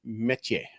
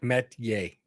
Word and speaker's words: Metchie: Thank you very much, Royce Metchi-Yay. I want to make sure I learn how to say his name properly. So although I might just be Metchi-Yay from now on. Well, he's basically like Metchi-Yay.